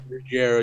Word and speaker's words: Ruggiero: Yeah, Ruggiero, is that how you pronounce it? Ruggiero, yeah.